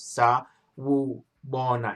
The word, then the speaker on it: Sawubona: So last week, our first a couple of weeks ago, our first lesson was Sawubona, which is hello, and how you pronounce it is Sawubona.